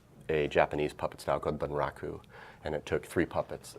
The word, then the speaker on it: Bunraku: I worked in a Japanese puppets now Claude Bunraku and it took three puppets earth-sun three puppeteers to operate one how is that pronounced eeeh Bunraku Bunraku yeah bu n ra okay ancient Japanese puppet